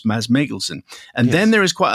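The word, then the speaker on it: Mads Mikkelsen: But before we get to the interview, there's a bit of discussion regarding how to pronounce Mads Mikkelson's name, which is of course Maz Meglesen.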